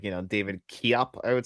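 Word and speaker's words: Koepp: I think it's like I think you're supposed to pronounce it David Cop or it's like you know David Kop I would say or something like that.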